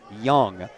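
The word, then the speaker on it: Jung: whose name is Redmond Young. Only spells that with a J u ng, but it's pronounced young.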